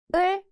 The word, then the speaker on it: 을: 을. 리을 티읕 is never used at the beginning of a syllable. When used as a 받침 at the end, it just sounds like 을.